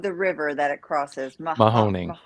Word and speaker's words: Mahoning: How do you pronounce the name of the river that it crosses? Mahoning. Mahoning.